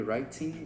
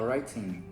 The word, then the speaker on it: writing: G, a gente fala writing, morre no N ali, writing, breathing, playing. A gente não fala playing ou breathing, porque dá muito trabalho.